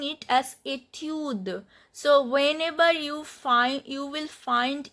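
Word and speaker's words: étude: So etude, we skip this pronunciation of e, but d is pronounced.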